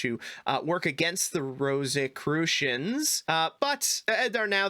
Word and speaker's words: Rosicrucians: think we're going there there are the rosicurian rose rosic rosicrucians that's the right pronunciation finally i can read